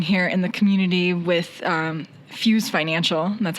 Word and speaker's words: Fyooz: So I think to start talking about what you have developed and are launching here in the community with Fyooz Financial. And that's how you pronounce it, right?